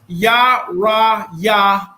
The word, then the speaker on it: YirmeYah: Khan, his name is pronounced YirmeYah Allah.